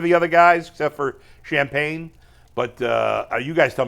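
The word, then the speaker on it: Champagnie: we say his name it's not champagne it's champagne champ champag OB toppen and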